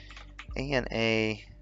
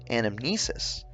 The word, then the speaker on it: anamnesis: I don't even know how to pronounce that fucking word. So, A-N-A-M-N-E-S-I-S.